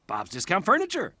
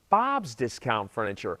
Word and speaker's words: Bob's Discount Furniture: Bob's Discount Furniture. You're putting the emphasis on the wrong syllable. It's Bob's Discount Furniture, as in get Bob's discount on furniture.